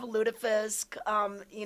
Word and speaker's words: lutefisk: You've never had, is it lutefisk? Am I pronouncing it right? Yes, we used to sometimes have lutefisk, not very tasty, but it was traditional.